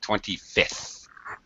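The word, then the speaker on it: twenty-fifth: Again, with the fifth, with the second F, you don't really pronounce it. 25th.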